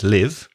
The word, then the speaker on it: live: L IV e well it depends on the context isn't it because if it's a verb it's live I live in Valencia we both live here but if it's